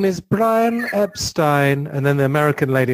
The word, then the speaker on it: Epstein: the perception of Brian Epstein. Epstein, Jesus. I keep getting in trouble because the English pronunciation is Epstein, and I always find myself saying Epstein.